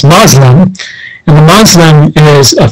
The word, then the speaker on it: Muslim: The same can be said about the word Muslim itself. Sometimes we heard the term is pronounced Muslim, and the Muslim is a French, again, a Franco appellation to the language.